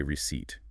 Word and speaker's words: receipt: Notice that the letter P is silent. We say receipt.